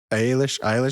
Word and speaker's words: Eilish: Well, I guess like a really big example of that's like Billie Eilish.